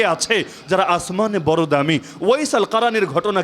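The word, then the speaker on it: Uwais al-Qarni: যারা আসমানে বড় দামি ওয়াইস আল কারীর ঘটনা কে না জানে যারা বাংলায় আপনারা বলেন ওয়াইজ কুরুনি ওয়াইজ কুরুনি ভুল উচ্চারণ মূল হলো ওয়াইস আল কারী তাকে নিয়ে হাদিস সহি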